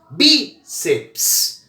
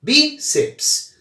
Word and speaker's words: bíceps: Bíceps. Veja que seps é uma sílaba só, não existe a sílaba PS, tá bom? Isso não existe. Seps é uma sílaba só. Bíceps.